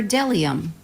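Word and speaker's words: bdellium: to have a feast B is for delium we doubt anyone knows what delium is but it's the only word dumb enough to begin with a silent B C is for zar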